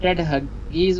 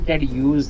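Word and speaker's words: Ted Hughes: अब टेड हगीज उसका नाम बेसिकली टेड यूज है, लेकिन वो नाम को उस तरह प्रनाउंस क्योंकि वो कोई ख़ास किस्म की कम्युनिटी से ताल्लुक़ रखता है, ख़ास डायलैक्ट से, तो उसको प्रनाउंस आप अंग्रेज़ी की तरह नहीं कर सकते।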